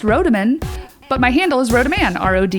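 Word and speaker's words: Rodemann: case you didn't know my last name is pronounced rodaman but my handle is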